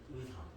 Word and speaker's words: 의사: 이때는 의라고 이중모음으로 발음해야 돼요. 의이라고 발음하셔야 됩니다. 알겠죠? 자, 그래서 예시. 자, 어떻게 발음한다? 의사.